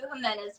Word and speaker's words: Jimena: you hop over to jimena's page and okay paint brain J in Spanish is pronounced h in English yes pretty much yeah